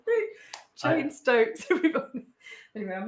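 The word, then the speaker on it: Cheyne-Stokes: only read read it so I've I just pronounced it Cheney Stokes but it's called it's not called chain stoking at all. It's not. It's called chain stokes. That's what you said like the name chain stokes is an abnormal breathing pattern.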